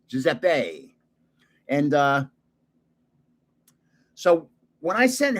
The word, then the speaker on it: Giuseppe: Italians pronounce E as A, Giuseppe.